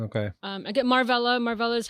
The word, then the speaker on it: Marvella: Marva is the most common way to say my name. Okay. Um I get Marlla.